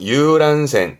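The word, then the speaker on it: 遊覧船: 유람선 발음은 유란센.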